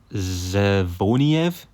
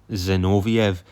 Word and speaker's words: Zinoviev: I said Igor Zevoniev and it's actually Igor Zinoviev.